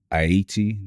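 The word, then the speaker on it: Haïti: a little bit different aiti you don't pronounce the h so i want to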